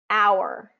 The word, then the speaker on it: hour: sound in it but here is a list of the most frequently used words that don't have the H pronunciation so this would be like honest Allelujah Heir honor um herbal hour spaghetti okay so there's no h pronunciation there and then it gets